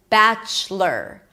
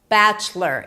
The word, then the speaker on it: Bachelor: And then the most important thing here is that you don't pronounce the o. It's not lore, but it's lur. Bachelor. Bachelor.